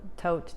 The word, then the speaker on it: Thoth: the Thoth deck or the Thoth deck I feel like every time I refer to that deck I have to call all its various names because we all pronounce it slightly differently at any rate they